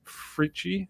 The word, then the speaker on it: Fritchie: We got a gentleman by the name of Chris Fritchie.